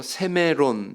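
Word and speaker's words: σήμερον: 오늘날 이 번역된 것은 헬라어로 세메론 이렇게 발음하는 단어인데요.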